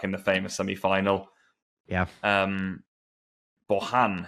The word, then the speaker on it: Bojan: Bojan, who I'm told in Catalonia, I think it's like Bojan or something. You're meant to pronounce that.